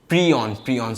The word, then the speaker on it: prion: अच्छा ये हमारा वायरस, ये हमारा पायरॉन हो गया। प्रियॉन सॉरी, मैं गलत प्रोनाउंस कर रहा था। प्रियॉन हो गया।